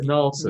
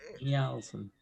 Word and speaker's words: Njalsen: You said Nalson. Nielsen. Njalsen. It's Nielsen. N-J-A-L. Norwegian origin, no? Nielsen. The J is pronounced Y, like an I.